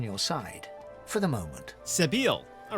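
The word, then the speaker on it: Sebille: not quite certain you'll ever sleep soundly with seville in any sort of proximity but at least she's on your side for the moment sabile all right we learned how to properly pronounce the name level up there we go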